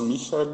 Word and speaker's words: Michael: É americanizar o negócio, falar Michael aham, Kohlhaas, né? Michael Kohlhaas, aham. do Heinrich von Kleist, não é isso? Isso aí. A pronúncia alemã é Michael, né?